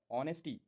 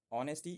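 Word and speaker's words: honesty: बोले तो first point है ऑनेस्टी। ऑनेस्टी नहीं ओ एच साइलेंट रहता है इसमें। ऑनेस्टी is Ananth value.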